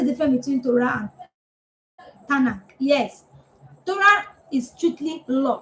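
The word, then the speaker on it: תנ״ך: It's not Tanakh, it's Tanakh.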